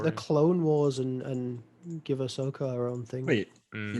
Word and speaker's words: Ahsoka: Ashoka? Sorry. Ahsoka. Ahsoka. That series looks really good. Like, it looks like it's going to be pretty good. It's just like let's take the Clone Wars and give Ahsoka her own thing.